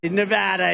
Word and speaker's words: Nevada: and you always have to say it correctly Nevada you got to call the with thousands of